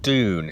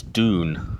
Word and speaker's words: Dùn: So, and it's actually pronounced Doon, so it's not done, it's Doon and Sticir.